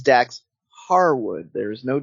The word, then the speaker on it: Harwood: It's Dax Harwood. There's no D. Harwood. Huh. Good to know. I learned something new today. Harwood. Dax Harwood. No D. No D.